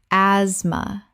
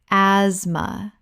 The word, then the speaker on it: asthma: Asthma. Correct pronunciation. Asthma. The th is completely silent. This is a two-syllable word.